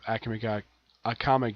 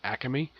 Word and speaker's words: Akame: While in the case of Akame ga Kill Zero, originally it's called Akame, like Akame, but it's pronounced Akame. That's how the characters pronounce their name.